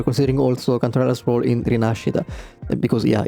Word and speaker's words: Rinascita: also Cantarella's role in Rinascita. Because, yeah, in Italian it's Rinascita, I'm sorry, I won't say Rinascita, it's too weird. Even the Chinese devs did their best to pronounce it Italian way.